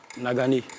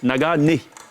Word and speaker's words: Nagané: C'est Nagané ou c'est Nagan? Nagané. Nagané. Comme le nez, Bien évidemment.